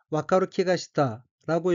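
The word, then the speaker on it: 分かる気がした: 셋째 줄 오른편 어깨는 한자가 기운 기자가 들어있고 일본어로는 와카루키가시타라고 읽으며 와카루키가시타는 알 것 같은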